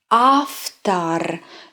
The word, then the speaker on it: автор: After, after. Don't forget, unstressed O is pronounced as A.